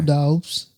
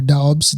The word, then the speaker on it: Doubs: We got Romeo Doubs or Dobbs however you say his name. Doubs.